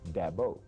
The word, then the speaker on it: Dabo: Dabo is how you pronounce my name, and I've had that my whole life.